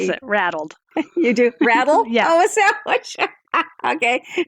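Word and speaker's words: RADLD: with USA so you say rattled we actually pronounce it rattled you do rattle oh okay all right in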